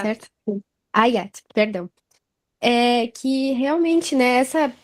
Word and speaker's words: Hayat: Na verdade, só para complementar a tua fala, Riat, é a pronúncia Hayat. certa? Ayat, perdão.